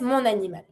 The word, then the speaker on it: mon animal: Starts with the vowel. You link it with your N. Je dresse mon animal.